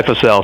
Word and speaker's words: Fussell: it right uh there's there's few ways to pronounce it I pronounce it fussel but half my family goes by for sale so I answer either one well I'll say the